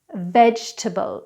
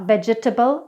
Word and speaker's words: vegetable: not promISE its promise vegetable it's not veg-e-table vegetAble it's vegetable months we don't actually